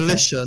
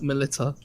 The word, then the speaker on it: militia: militia, not milita?